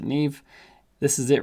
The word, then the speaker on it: Neve: new and search for neve or navi depending on how you pronounce it i pronounce it neve this is it right